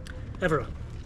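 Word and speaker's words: Évora: Evora? Evora.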